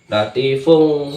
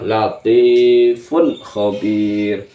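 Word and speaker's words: لطيف خبير: latifun khobir latifun khobir jangan dibaca latifung salah yang benar adalah latifun khobir fun tunnya ini jelas dibacanya jelas karena bertemu dengan huruf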